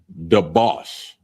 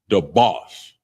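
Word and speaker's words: דבש: The next one is honey or syrup, and it's pronounced debauch, and it's spelled D-A-B-A-S-H, D-A-B-A-S-H, debauch, and that's honey or syrup.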